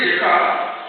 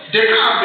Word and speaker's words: Descartes: Descartes believed in the principle of dualism. Others pronounce him as Descartes. Yes? It's Descartes. Descartes. But in French it's Descartes. René, which is René Descartes. Descartes.